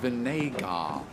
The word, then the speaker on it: Vinégar: It's pronounced Vinégar.